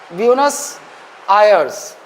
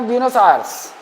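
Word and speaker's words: Buenos Aires: फराना नदी के किनारे अर्जेंटीना की कैपिटल ब्यूनस ब्यूनस आयर्स यही है स्पेलिंग थोड़ा सा स्पेलिंग इसका [नाक से की जाने वाली आवाज़] थोड़ा सा टेढ़ा है।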